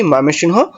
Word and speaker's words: ময়মনসিংহ: ঢাকা, চট্টগ্রাম, সিলেট, বরিশাল, রংপুর, রাজশাহী, ময়মনসিংহ আর খুলনা। হ্যাঁ এটা ময়মনসিংহ। এটার যে প্রোনাউন্সিয়েশন এটা আমি কখনোই হ্যাঁ সুন্দর মতো উচ্চারণ করতে পারি না। হ্যাঁ সকলেই বলে ময়মনসিং। আমিও বলি ময়মনসিং।